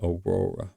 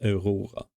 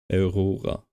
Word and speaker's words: Aurora: And I have to stop saying Aurora in English. It's Aurora for me. That's how I should pronounce it always. Aurora.